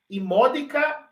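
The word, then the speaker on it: immodica: Se tem uma breve, a acentuação estará na antepenúltima sílaba. Imódica ira creat insaniam.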